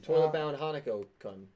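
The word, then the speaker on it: Toilet-Bound Hanako-kun: Toilet Bound Hanako Kun. I got you, I bro. might be saying the name wrong, but You definitely saying it right.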